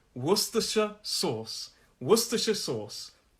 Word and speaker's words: Worcestershire: cheese and toast so that first sound it looks like worcestershire but it's worcestershire brilliant brilliant one more